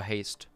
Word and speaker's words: haste: Do you say haze or haste? Haste. So haste. Because you know, sometimes you just, you know, they're like silent letters, right? Like doubters, the B. So like, I never know.